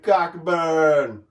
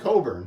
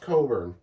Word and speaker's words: Cockburn: they can keep up with Io and Kofi Cockburn. I know it's Coburn, but... No, it's not Coburn. It's pronounced Coburn.